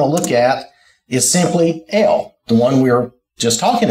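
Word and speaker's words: אל: and the transliteration and the phonetics of AOL how it's pronounced L is the idea and uh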